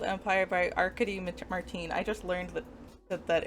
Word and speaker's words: Arkady: So it is, like I said, it's a memory called Empire by Arkady Martine. I just learned that it was pronounced Arkady today.